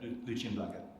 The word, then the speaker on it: Lucian Blaga: and will be teaching English at the Universitatea Lucian Blaga in Rome. Can you respond to that? No, just say it properly. It's Lucian Blaga.